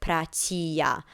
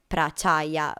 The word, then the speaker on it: Prachaya: was incorrect because actually his full name is pronounced as Sinto Prachia, not Prachaya.